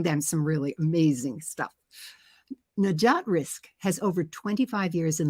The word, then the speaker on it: Najat Rizk: well now I want to introduce my guest najat risk am I pronouncing it right absolutely oh fantastic fantastic well